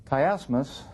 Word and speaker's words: chiasmus: of this literary form kmus uh it's spelled CH H as m u s is a literary art